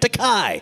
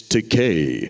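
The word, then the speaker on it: Takei: original series George well a lot of people mispronounce his name t-a-k-e-i they say because they see the eye that's an American thing you just follow the last vowel right takai and George will always say it's Decay rhymes with gay that should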